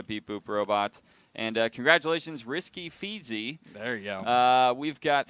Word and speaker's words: RASQFEEDZZ: So my initial thought was that this is supposed to be pronounced Risky Feedsy.